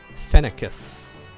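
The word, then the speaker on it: Phoenicis: So King Phoenixus. Nilla says it's pronounced Phenicus.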